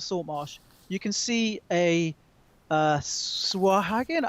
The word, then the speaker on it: Sahuagin: you can see a Swahagan. How do I pronounce that? Sahuagin. Yes, it's like hooligan, isn't it?